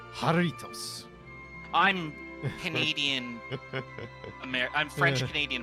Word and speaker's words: Jarritos: I believe it's actually pronounced Jarritos.